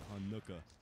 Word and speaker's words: Hanukkah: Like, what syllable are you supposed to enunciate? Is it Hanukkah or is it Hanukkah?